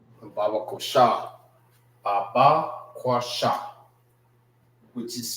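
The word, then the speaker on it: Babaqashah: Baba kosha. Baba, which is spelled B A B A Q A S H A H.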